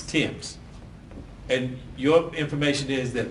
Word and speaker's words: Thames: lady yes yes and the name is spelled t-h-a-m-e-s it's pronounced Thames Tims and your information is